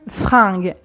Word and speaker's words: fringue: Un vêtement, son équivalent, une fringue.